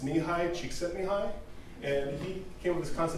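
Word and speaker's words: Mihaly Csikszentmihalyi: name I could not spell, but I can pronounce. It's Nihai Csikszentmihalyi.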